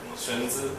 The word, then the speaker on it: Xunzi: Xunzi? Yeah, it's the like in the German. Xunzi. Xunzi, as an American would say. Xunzi.